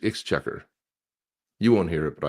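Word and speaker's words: Exchequer: How do you pronounce it? X checker. It's called X checker. Is it? That's what it says. Hit the play button. So, see what it says. Oh, you're not. It's X checker.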